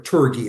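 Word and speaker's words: Tourgée: I mean, they were Albian to I don't know if the name Albian or or Turi as some people pronounce it.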